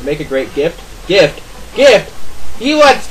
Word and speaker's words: GIF: I think it's GIF or JIF. I think it's supposed to be JIF, but mostly everyone says GIF.